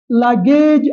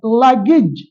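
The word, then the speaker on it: luggage: வருகிறது ஆனால் இந்த ஐந்து சொற்களிலும் வருகின்ற ஏக்கு இ உச்சரிப்பு தான் வரும் ஃபர்னேஸ் அல்ல பர்னிஸ் லக்கேஜ் அல்ல லக்கேஜ் பெக்கேஜ் அல்ல பேக்கேஜ் பேக்கேஜ் சோசேஜ் அல்ல சாசேஜ் சாசேஜ்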